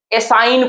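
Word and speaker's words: assign: आई एन इसे हम लोग क्या कहते हैं असाइन करते हैं क्या पढ़ने हैं साइन बच्चा क्या चीज जी यहां पे आपका क्या साइलेंट है जी साइलेंट है तीसरा देखिए फ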